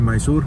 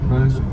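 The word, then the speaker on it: Mysore: लोग आ चुके हैं मैसूर अब मैसूर बोलते हैं कि मैसूरू वो क्या बोलते हैं मैसूर बोलते प्रोनंसिएशन मैसूर है स्पेलिंग तो बहुत अलग-अलग है यहां पे देखा मैंने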